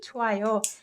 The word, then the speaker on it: 좋아요: You can just ignore this 흐, although it has to be spelled this way, this 히읗 받침, and you can just say 좋아요, 좋아요.